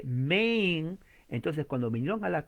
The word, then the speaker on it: Maine: que se llama Maine, se escribe Maine, pero la A se pronuncia E, la I al final no se pronuncia, la N de Nancy se pronuncia y se lee Maine.